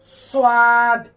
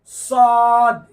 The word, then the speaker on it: সদ: সদ উচ্চারণ করার সময় অনেকে এভাবে উচ্চারণ করে, সোয়াদ, সদ, এরকম যেন না হয় ঠোঁট।